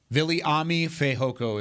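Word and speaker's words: Viliami Fehoko: Viliami Fajoko is how you say it.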